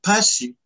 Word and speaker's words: Mpasi: Yeah, pasi. Pasi is a very common word in Lingala and Congo. And there's lots of people whose name is pasi.